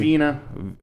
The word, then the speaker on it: Wiene: Yeah, and this is directed by Robert Wine, who, is that how you say his name? Wine? Vina. Wiene. Yeah, Vina. Robert Vina.